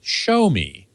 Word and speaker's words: Xiaomi: a x i a o m e is pronounced show me that's perfectly that's perfect actually there's a Chinese